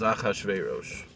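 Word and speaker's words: אחשורוש: the hazaris in the original the way we pronounced as ahashverosh right chanemar as it said kimu bikiblum the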